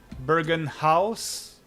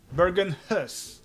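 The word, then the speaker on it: Bergenhus: I'm probably pronouncing that absolutely horrifically like Bergen House. I I don't know. That was an amazing moon jump. Okay, this one I want the same tomorrow. Bergen Hus. Okay, Bergen Hus.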